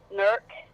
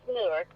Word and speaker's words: Newark: Newark, Ohio. Oh, Newark. Now, isn't that pronounc that pronounced Nerk? Nerk. No, it's Newark, but Oh, okay.